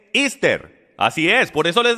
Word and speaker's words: Esther: historia sabía usted que la manera de pronunciar y estar en inglés es esther así es por eso